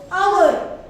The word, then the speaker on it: hour: हे काय आहे HOUR. काय आहे आवर. ह्याचं काय आहे उच्चार आवर.